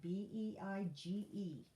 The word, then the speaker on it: beige: is e i because it's sounding like the long a e i b e i g e beige okay then vein the